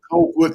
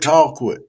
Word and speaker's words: Colquitt: They already give me a hard time down there in Colquitt, call Georgia. quit, not cold quit, call quit.